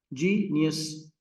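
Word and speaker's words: genius: जीनियस। ठीक है, ये इसमें आपके पास 3 syllable है, तो स्ट्रेस किस पर है? जी पे, जी यस।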